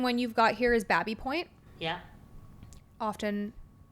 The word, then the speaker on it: Baby Point: Second one you've got here is Babby Point. Yeah. Often called Baby Point. Because it's spelled, it looks like Baby Point.